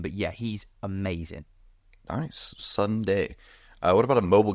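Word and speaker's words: Sondae: guy who is called Sunday um so it's said like like the like the name but it's spelled s o n d a e he's a young English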